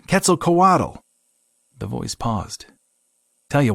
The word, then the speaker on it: Quetzalcoatl: "Coatl... Quetzal?" Jim butchered and thought he felt something move in his mind. "Nah, kid, Quetzalcoatl."